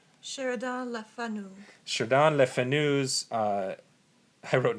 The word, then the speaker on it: Sheridan Le Fanu: Sheridan Le Fanu.